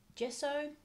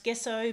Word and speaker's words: gesso: using today this is a Montmartre one we pronounce it gesso could also pronounce gesso but I think we'll stick with gesso so